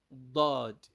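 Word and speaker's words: ضاد: Dod, Dod, Dod, with the letter of D, not D directly like that, but like DH. You can see it like DH. That's how it is being transliterated. Dod, Dod, Dod.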